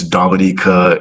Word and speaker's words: Dominica: It's Dominica, it's Grenada, not Grenada, stuff like that.